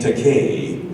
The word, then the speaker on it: Takei: YouTube PSA by named takane rhymes with gay so in Tennessee if